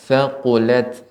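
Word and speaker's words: ثَقُلَتْ: Namun sedikit tadi yang harus diperhatikan yaitu tak sukun ketika dia mati, maka tak sukun ya harus diberikan sifat hamusnya. Kemudian ya, seperti contohnya thaqulat ya demikian.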